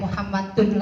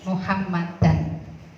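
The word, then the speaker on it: محمدًا: Yang tadinya dibaca rofa atau dhamma, kalau jatuh setelah anna tidak Muhammadun lagi. Bacanya apa? Muhammadan. Nah ini walaupun tidak difathahi istilahnya gitu ya, harus ada alif di belakangnya sebagai tanda dibaca nasab atau fathah. Anna Muhammadan, nggak boleh dibaca ini Muhammadun.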